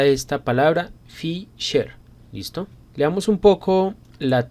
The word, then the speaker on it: Fisher: vamos a llamar el coeficiente de asimetría de fiser Cómo se pronuncia esta palabra Fisher listo leamos un poco la teoría es el